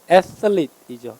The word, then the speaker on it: athlete: 얘는 원래 어떻게 발음하냐면 강세가 앞에 있어서 th가 쓰 발음이에요. 번데기 발음. athlete이죠.